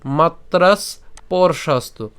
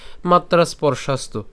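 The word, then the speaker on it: মাত্রাস্পর্শাস্তু: করে করছি মাত্রাস পর্ষাস্তু এখানে আমরা যেটা করলাম সেটা হচ্ছে এখানে যে দন্তস্য আছে দন্তস পর্যন্ত আমরা উচ্চারণ করছি মাত্রাস আর এখানে দন্তস যুক্ত প আছে ঠিক আছে স্পর্শাস্তু বলতে পারি কিন্তু ওটা করলে দেখা যাচ্ছে যে একটু কঠিন হয়ে যায় তো সেজন্য আমরা মাত্রাস অর্থাৎ দন্তস হস চিহ্ন পর্যন্ত উচ্চারণ করছি মাত্রাস এরপরে পরশাস্ত ঠিক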